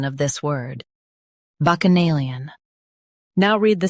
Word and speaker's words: Bacchanalian: Bacchanalian. Now read the syllables shown on the screen naturally. Bac. Uh. Nay. Lee. Un. Bacchanalian. Stress nay and keep lee light.